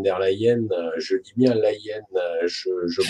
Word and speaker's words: Leyen: Et comme nous avons des dirigeants qui sont, y compris dans l'Europe, Ursula von der Leyen, je dis bien Leyen, je prononce bien.